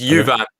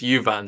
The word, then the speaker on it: Juvan: It's Juvan, the pronunciation here. Jan's saying it's Juvan, so there you go. Kaya Juvan.